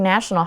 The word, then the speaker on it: national: National 就是国家的，那这个国定假日其实就是 national holidays。比如说，Our office is closed during national holidays。我们的办公室呢，在国定假日是没有营业的。那另外呢，这个字它刚刚是形容词嘛，那它的名词很简单，我们把 al 拿掉就会变成 nation，它就变国家的意思。注意发音，形容词的时候是 national，你的 a 嘴巴要大，然后国家当名词的时候是 nation，嘴巴要小哦。好，那我们看一个例句。Mid-Autumn Festival is a national holiday.